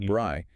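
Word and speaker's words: braai: The bri, pronounced bri, is absolutely central.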